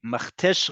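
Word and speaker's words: מכתש: They can't probably say cha, so they call it a crater. But the proper geographical term in English is a Machtesh.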